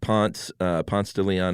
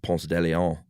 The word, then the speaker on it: Ponce de Leon: And, at Ponce de Leon Avenue here in Atlanta, everyone that doesn't live in Atlanta probably laughs that we pronounce it that way instead of Ponce de Leon.